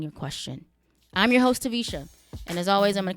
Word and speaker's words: Taversha: the ratchet R it's tvisha the r is silent on Instagram Snapchat Twitter